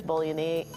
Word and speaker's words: Bolognese: And they have the usual pasta flavors, bolognese. Oh, I always pronounce it wrong.